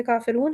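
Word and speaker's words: كافرون: ये सूरह मुबारक है कुल या अय्युहल काफ़िरून, सूरह काफ़िरून है। हम इसे देख लेते हैं एक मरतबा। बिस्मिल्लाहिर्रहमानिर्रहीम, कुल या अय्युहल काफ़िरून, रा हमारा मोटा है और रून काफ़ी लंबा हो जाएगा।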